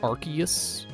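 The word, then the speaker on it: Arceus: I don't I don't know if there's an official pronunciation for Arus. Not like Rayquaza where people would be like uh actually it's Rayquaza. It's like I don't care. Rayquaza sounds better. Just like Arus. You know, there's an argument to be made for Archus, but my argument against it is that having Ary in its name just sounds silly.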